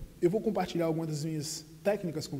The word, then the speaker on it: compartilhar: this word is that when you see the L and the H next to each other in a verb or any word, then they're pronounced like a y sound, compartilhar, compartilhar.